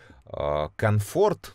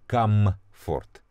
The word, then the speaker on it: комфорт: немецкий язык следующая comfort comfort comfort comfort но это видимо из-за ленности и повернуть правильный язык confort но это можно отнести исключительно только конфорки конфорка знаете что это такое это такой нагреваемый кружочек на плите а вот чтобы чувствовать себя правильно и хорошо и уютно это наверное относится к слову комфорт com ford не ленитесь выговаривает и комфорт и удобство внутренний покой